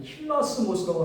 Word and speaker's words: 힐라스모스: 이게 힐라스모스라고 하는데 이제 그 힐라스모스라는게 예를 들어서 이제 그 신발 이름 중에서 그 필라라고 있어요. 필라. 그래서 필라데 그걸 이제 연하게 발음하면은 이제 그 힐라 이렇게 되거든요.